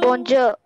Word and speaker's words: bonjour: And when you pronounce bonjour, the last letter R will be silent.